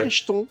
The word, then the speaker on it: Crichton: Since you did mention Michael Crichton, I don't fucking know how to pronounce Michel that. Crichton.